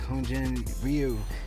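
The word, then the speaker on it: Hyun-jin Ryu: Now, like Hyunjin Ryu, that's how you pronounce it, but I like this spot for him against the Padres.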